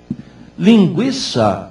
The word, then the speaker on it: linguiça: a não se modificou a pronúncia linguiça é linguiça com o tema EA linguiça sem tema não passou a ser linguiça tranquilo é tranquilo com